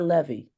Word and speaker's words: Levy: I see Miss Levy and by the way can you tell me is it ly or Levy it's Le you're correct okay because somebody